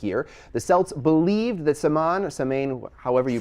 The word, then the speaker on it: Samhain: Halloween comes from an ancient pagan festival called, and I hope I say this right, Samhain. Samhain, I think that's how you pronounce it, which actually means summer's end and marks the beginning of winter.